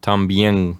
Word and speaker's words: también: I guess as an English speaker, it's tough for me to get that concept of having 2 vowels in the same syllable, a weak and a strong.